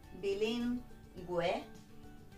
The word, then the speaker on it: bilingüe: And that means that we need to pronounce the U. Ge, gi, but bilingüe, pingüino.